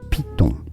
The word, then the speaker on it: piton: What the Piton.